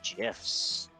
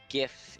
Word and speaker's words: GIF: pronounced memes and GF with a hard G I'm with the May on this one uh GIF is pronounced like GIF